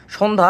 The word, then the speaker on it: সন্ধ্যা: সন্ধ্যা এর উচ্চারণ এক নংে হবে হচ্ছে তালব্যস্ব ওকার দন্তন্য হসন্ত এবং ধ্ব আকার সন্ধ্যা।